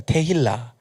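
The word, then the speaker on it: תהילה: 또 다른 이제 발음으로는 이제 테필라라고도 이야기하기도 하고 이제 테힐라라고 말합니다. 테힐라.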